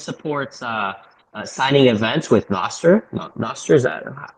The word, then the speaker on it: Nostr: Nostr, is that, how would we pronounce that? I just pronounce it Nostr.